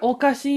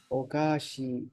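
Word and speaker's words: おかしい: hi perfect what did okasi mean oh GOI is strange or funny and try to make sure there's a long e here CU otherwise it sounded like you said the word sweet oh GOI hi hi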